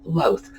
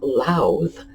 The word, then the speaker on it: Lowth: One of my professors called him Loth, rhyming with both. I, on the other hand, believe that the name Louth came from Lowther, which is a common British name from the north of England, dating back to the conquest.